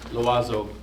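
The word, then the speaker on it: l'oiseau: Loazo. Yeah, spell it.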